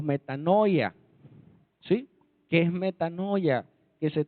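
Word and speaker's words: μετάνοια: Vale síguelo entonces arrepentimiento es una palabra griega que se pronuncia así metano o metanoia qué es metanoia que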